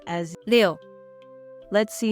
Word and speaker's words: 六: It is pronounced as 六.